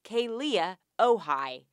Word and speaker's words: Kealia Ohai: Now one of the top searches on Google is Kealia Ohai. If you haven't been following their relationship, let me catch you up. Number one, her name is pronounced Kealia Ohai.